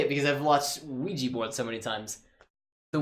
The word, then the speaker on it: Ouija: Because I don't know how to pronounce things. We're going to say the Ouya. No. Speaking of terrible failed mistakes, Oh yeah. Ooh-ha, that's not right. Come on. Here, how about ooh-ha? Pronunciation. Ouija.